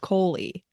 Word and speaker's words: Coley: Because Coley was spelled like Cole, but it was pronounced Coley.